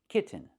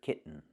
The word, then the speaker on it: kitten: Another option, I can make the real t and say kit t t kitten. This is also correct. But it's more common in American pronunciation to hear kitten. But never say kitten. It's kitten or kitten. Kitten is more common.